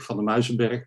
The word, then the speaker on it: van der Muizenberg: My name is van der Muizenberg, pronounced in Dutch.